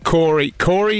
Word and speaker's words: Khorry: And I think this happens quite a bit out there, but Corey is spelt Khorry.